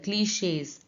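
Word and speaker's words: cliché: अब देखिए यहां भी लगा है cliches, shays, a, ठीक है, a की साउंड आई।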